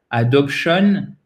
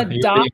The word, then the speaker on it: adoption: Quand vous avez un mot qui se termine en "tion", l'accent tonique, il est avant. Ça, c'est une des rares règles qui tient la route, c'est-à-dire qui est facile à retenir en anglais.